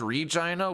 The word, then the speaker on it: Regina: The town or the city isn't vagina. It's called Regina. We just It's known as the city that rhymes with fun.